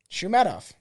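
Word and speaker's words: Shoumatoff: So most recently in 2009, Vanity Fair writer Alex Shumatoff was arrested for trespassing. Shumatoff. That's what it is. Shumatoff. I can fucking turn it. Shumatoff.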